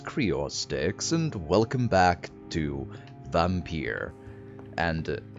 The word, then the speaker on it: Vampyr: and welcome back to vampire and i'm going to pronounce it vampire and no one can can convince me otherwise because that's how they